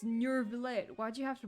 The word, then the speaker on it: Neuvillette: It's Neuvillette. Why'd you have to pronounce it like that?